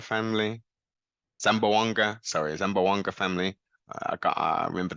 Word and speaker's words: Zamboanga: full of action uh successful wins for the zambanga family sorry Zamboanga family I got I remember that one I remember that pronunciation lead cards yeah first rank submission this